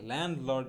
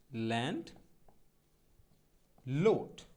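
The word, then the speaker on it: landlord: জমিদার আমরা সবাই এটাকে ল্যান্ড লর্ড বলে ডাকি, তো সঠিক উচ্চারণটা ল্যান্ড লর্ড হবে না, তো উচ্চারণটা এরকম হবে ল্যান্ড লোড, ল্যান্ড লোড, ল্যান্ড লোড, ল্যান্ড লর্ড না, ল্যান্ড লোড।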